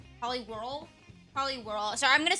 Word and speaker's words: Poliwhirl: I didn't know that there were three evolutions for Poli Swirl. Poliwhirl. Poliwhirl. Sorry, I'm going to say his name wrong at least eight more times.